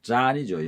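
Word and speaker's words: John: 존 우든, 잔이죠. 영어식으로 발음하면 잔 우든은, 한국식으로는 존 우든은 남을 탓하기 전까지는 누구도 패배자가 아니다라는 의미심장한 말을 했습니다.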